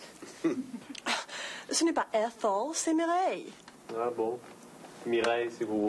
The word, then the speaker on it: Mireille: Prononcez Mireille. Allez, allez-y. Mireille. Écoutez, Mireille. Allez-y, essayez. Mireille.